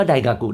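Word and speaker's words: 大学: มั้ ฮะ เค ว่า ได กากุ ได กากุ ได กากุ มัน ก็ ฟัง เป็น คล้าย ๆ งอ งู ไป ใน ตัว นะ ฮะ เพราะ ฉะนั้น มัน มา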